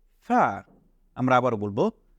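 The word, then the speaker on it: فاء: ফা এটাকে বলবো ফা ফা এর উচ্চারণ হবে আমরা যদি দাঁতের আমাদের আগার সাথে নিচের ঠোঁটের আগা মিলাই তাহলে এভাবে উচ্চারণ হবে ফা আমরা আবারো বলবো ফা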